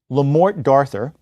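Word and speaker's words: Le Morte d'Arthur: other words are malleable lamort darthur as it's pronounced in English by Sir Thomas mallerie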